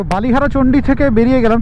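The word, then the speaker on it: বালি হরচণ্ডী: চল বাবা পানি তো বালিহারাচন্ডি থেকে বেরিয়ে গেলাম তো একচুি এটার বাংলা উচ্চারণটা হচ্ছে বালি হরচন্ডি ঠিক আছে তো ওটা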